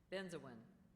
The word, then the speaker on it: benzoin: Benzoin. Are there any alternate pronunciations?